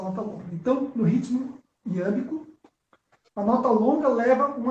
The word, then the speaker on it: iâmbico: Não, porque eu estou longe das coisas, mas é iâmbico, como se fala?